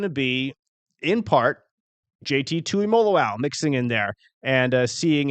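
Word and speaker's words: Tuimoloau: He can spell it, but um joking aside, like Polynesian players, I I love him because you just pronounce every letter and it it's very straightforward. Makes it easy, right? Exactly. So JT Tui Molo, thank you.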